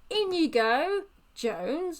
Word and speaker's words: Inigo Jones: now it's indigo Jones apparently you pronounce it like Inigo Jones like in you go into in the in you go into the building there was another word